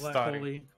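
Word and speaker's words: Stary: It might be pronounced Starry, I don't know. It's Starry. Because Starry is the word for old, Novi is the word for new.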